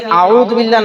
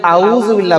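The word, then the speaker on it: أعوذ بالله: যদি আপনি আইন দ্বারা উচ্চারণ করেন এর অর্থ হয় আউজু অর্থ হল আমি আল্লাহর কাছে পানা চাইতেছি আশ্রয় চাইতেছি। কিন্তু যদি আপনি আউজুবিল্লাহ না বলে আউজুবিল্লাহ বলেন হামজা দিয়া বলেন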